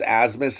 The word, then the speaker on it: Abmas: Max Asmus is the man. He gets it done for him. It's spelled ABMUS or ABMAS, Abmes, but it's pronounced Asmus.